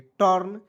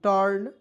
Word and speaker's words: TURN: चलिए आप देखेंगे TURN, तो टी से ट और एन से न, यू को साइलेंट, आर को यहाँ पे रिप लगाएंगे, टर्न, CURD curd, TURN टर्न, यू देखिए अब यहाँ